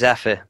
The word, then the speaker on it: Zephyr: believe that's Cloud Zephyr it's pronounced zepher yes I always get that one wrong yeah bab seed okay